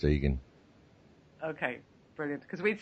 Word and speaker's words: Igan: It's spelt Igan, but it's pronounced Egan. Okay, brilliant. Because we'd say Egan in Ireland here, but the Americans say Igan, so I didn't know how it was in Australia.